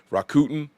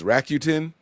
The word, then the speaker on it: Rakuten: My wife told me I was saying this wrong. I said Rakuten. She says it's Rakuten.